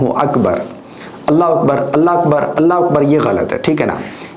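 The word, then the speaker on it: الله أكبر: تو اس کا جو صحیح تلفظ ہے اللہ اکبر اللہ اکبر.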